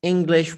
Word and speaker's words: English: me just go back the word is english with no g the g is very very thin in the pronunciation of this word which is good so